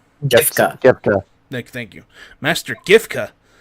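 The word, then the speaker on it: Giffca: How do you pronounce his name? Gifka.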